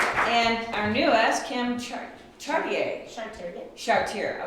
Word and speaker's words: Chartier: Chartier. Oh, I pronounce it the French way.